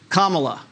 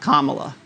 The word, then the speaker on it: Kamala: also get attention right it's kamala not kamala or you know what